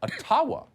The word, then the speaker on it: Ottawa: let the mayor of ottawa or otawa as it's correctly pronounced ojibwa explain why peaceful truck